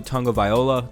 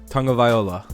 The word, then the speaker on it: Tagovailoa: I've heard it's described like tongue and then viola. Like you're supposed to kind of say it fast, like Tagovailoa, and then you have it down.